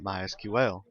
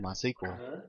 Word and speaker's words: MySQL: as you can tell I've been calling up MySQL that is the correct pronunciation however it is also commonly called my sequel we hear it called that don't be confused